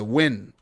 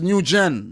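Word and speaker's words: Nguyen: a name man win it's pronounced win and it's not pronounced new gen new goyan oh nugent i could have never said that it's pronounced win all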